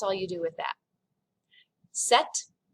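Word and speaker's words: sept: you do with that set the p is kind of silent set reit this has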